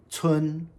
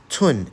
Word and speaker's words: 村: Tsun. Mu plus tsun is tsun.